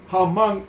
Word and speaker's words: Hamán: Dos, está Amán, que se pronuncia Hamán en hebreo y significa magnífico.